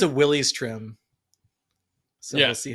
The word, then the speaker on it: Willys: So, I think it's a Willys trim. So, we'll see how I feel about that. And then we're going to get some commenters telling us that's not how you pronounce the name. It's Willis.